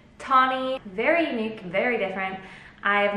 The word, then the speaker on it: Tahnee: pronounce my name so my name is actually pronounced tawny t-a-h-n-e-e tawny very unique very different